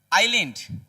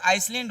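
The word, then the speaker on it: island: अगला जो है आइलैंड यहां पर देखिए आइलैंड। Sri Lanka is एन आइसलैंड। इसको बहुत लोग आइसलैंड बोलते हैं। यह आइलैंड है। क्या है मेरा? इसका जब उच्चारण करेंगे तो आइलैंड होता है।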